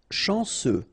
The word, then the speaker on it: chanceux: Chanceux. final X not pronounced, and then remember C, E, U will give you this se sound.